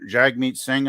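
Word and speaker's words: Jagmeet Singh: NDP the new Democratic party with j j Jag meat Singh I believe if I'm not mispronouncing that name is no it's Jag meat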